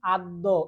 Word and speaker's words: আদ্য: যেমন আদ্য এই যে আদ্য বানানটা কি হবে? সরে অ দফালা। কিন্তু উচ্চারণ হচ্ছে আদ। এই স্বরে অটা ও হয়ে যাচ্ছে।